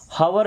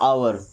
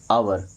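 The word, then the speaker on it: hour: हवर नहीं पढ़ना है। क्या पढ़ना है? आवर। क्या पढ़ना है? आवर।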